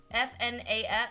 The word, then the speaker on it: FNAF: That's four syllables. That's too much. That's I would shorten it to two syllables. I just say FNAF.